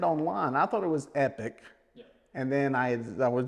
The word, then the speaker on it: Epoch: with the pronunciation uh this varies uh depending on region for the most part I tend to say epic batteries over in Europe uh it's either Epoch or Epoch depending on depending on exactly